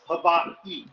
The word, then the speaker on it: Hawaii: There's a little pause. Hawaii.